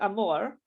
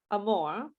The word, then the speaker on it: amor: can say okay if it's at the end like in the word amor amor it's a slightly different r okay but it's it's pretty close right is that true a more is it it's how do you say that daniella a more more yeah okay so it's close it's a little bit not the same but it's close so you you can